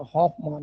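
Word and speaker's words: Hofmann: हाफ नहीं होता। हाफ मान होता है। एच O double F एम A double N हाफ मान प्रोडक्ट।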